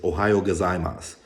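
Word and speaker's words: おはようございます: say is just like the proper way to say good morning is Ohio gozaimasu but like I said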